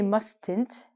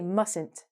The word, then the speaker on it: mustn't: We do not say mustn't. You mustn't pronounce the T. When we do this, the T is actually silent. We say mustn't.